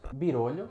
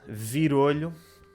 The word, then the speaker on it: virolho: Birolho, que já te expliquei há bocado o que era. Não, tu disseste, há bocado mencionaste, mas não explicaste. Virolho, ou birolho, Birolho.